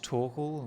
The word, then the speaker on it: Torkel: writer my name is torkel rhymes with snorkel welcome to poliverse as